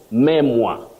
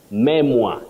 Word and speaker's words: memoir: mly of Charles langa koui the first word memo Memoir not memo Memoir second pant pant not pagant